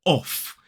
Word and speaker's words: off: off so we use that unvoiced F sound o f o f so this word is off whereas this word is normally not emphasized we normally use the weak form but first of all let's compare this with the strong form of this word off of off of they both have that same o vowel sound that we see in the word sock however we would Norm